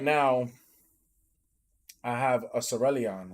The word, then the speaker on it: Cerulean: But the same fact, like right now, I have a Cerulean, right? That's how you say it, Sam? Yeah. Sylveon? No, Sarah Luge. Cerulean.